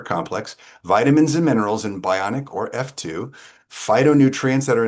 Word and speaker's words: Bioniq: I was calling Bioniq on the Prez team call. So please forgive me because there's a Q in there. The proper pronunciation is Bioniq.